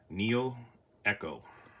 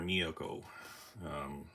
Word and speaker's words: neoeco: He said in a video here a couple weeks ago, it's called neoeco or neoeco. I don't know how they pronounce this, but for me it's neoeco. This was an airbrush that he suggested.